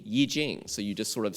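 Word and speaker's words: I Ching: that i-c-h-i-n-g is prone is spelled with an i but pronounced eaching well that's why pinyin spells it y i j j i n g yi jing so you just sort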